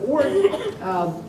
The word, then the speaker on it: Oort: You pronounce that properly. Oort cloud, yes.